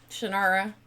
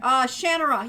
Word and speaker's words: Shannara: Shannara.